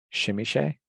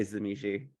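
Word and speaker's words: Tzimisce: crafting clan of vampires I will go first because I feel like there was a source book that attempted to explain it shimmy Shay that's probably right but I just say zamichi just because it's easiest I say shimizi so we have three different pronunciations yeah I'm trying to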